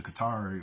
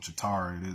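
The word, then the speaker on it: Chitauri: um reptilian race to Qatari or um chitari there's different ways to pronounce that um I think I even seen it with a k chakari or something like this but these weren't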